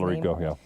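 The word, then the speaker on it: Talarico: All right, CBS contradicted Stephen Colbert's on-air statements regarding a canceled interview with Texas Representative James Tallarico. Is that how you say his name? Tallarico, yeah.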